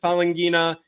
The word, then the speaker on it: Falanghina: Let me tell you, you pronounce it Falanghina, Falanghina, like, it's a nice Cthulhu sounding, looking and sounding word.